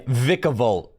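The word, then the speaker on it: Vikavolt: It's, yeah, Vicavolt is the official Vicavolt pronunciation.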